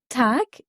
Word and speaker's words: Tag: en fin de mot si G est en fin de mot il se prononce alors comme un K par exemple dans gout T qui signifie bonjour tac veut dire jour et